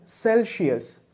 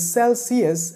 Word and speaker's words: Celsius: used to call it celsius but when i took a closer look at this word there was no she in celsius so the right pronunciation of this word is celsius and it's not celsius the temperature dropped below